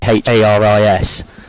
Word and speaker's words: Charis: Yeah, so for those unfamiliar, she's got a H in her first name. It's Charis. She's just saying it does her head listening to it being mispronounced all the time.